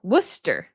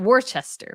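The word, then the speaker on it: Worcester: sure somebody was wer Worster not Worchester Worster I would not that would not be my first first way I would pronounce it but I I figured I was probably pronouncing it wrong so that was a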